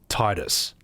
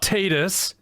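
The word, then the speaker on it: Tidus: Also, I just want you all to know that in that part of the game, she calls Titus Titus. Not Titus, okay, but Titus. The correct pronunciation.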